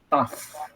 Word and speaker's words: tough: Ini bacanya adalah tough.